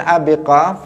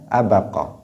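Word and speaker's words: أبق: Kemudian ayyuma abdin abiqa atau abaqa, yang pas di situ bacanya abaqa.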